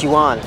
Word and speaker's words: yuan: It's pronounced yuan, by the way.